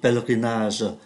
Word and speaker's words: pèlerinage: La baie du Mont Saint-Michel est un lieu de pèlerinage. Pèlerinage là chúng ta không phát âm ký tự ơ giữa, đó là sự hành hương.